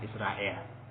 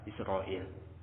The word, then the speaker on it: Israil: Nah, dikatakan Israil, ini Yakub alaihissalam. Nah, sekarang pengucapannya, nah, dialeknya jadi ucapan Israel. Pada asalnya apa? Israil.